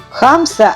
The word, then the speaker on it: хамса: В центре композиции у меня будет хамса, поэтому для нее я сделала более высокую подложку. Хамса – это ближневосточный защитный амулет от сглаза. Хамса – ударение на первом слоге и в переводе на русский язык означает «пятерня».